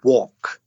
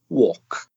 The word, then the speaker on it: walk: don't say that say walk or talk chalk etc so they're quite a few words with ALK and they're pronounced like walk do you walk to